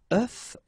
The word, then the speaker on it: œuf: if you listen carefully, the pronunciation is changing quite much, because for the singular form it's œuf, but then for the plural form here it's œufs, okay?